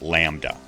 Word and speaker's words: lambda: looking upside down Y is wavelength it's it's Lambda and it's the Greek letter it's pronounced Lambda so wavelength is a distance measured in meters